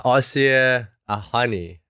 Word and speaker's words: Asieh Ahani: from new york uh aussie a honey i hope i pronounced your name correctly welcome to the show i'll see you thank you very much yes it was correct awesome fantastic well excited